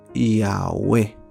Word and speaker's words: Yahweh: entendemos, según se cree, este nombre YHWH se traduce como Yahweh. Así se debería decir. Es muy paradójico que a pesar de que se escriba solo con consonantes, su pronunciación sea solamente con vocales. Yahweh.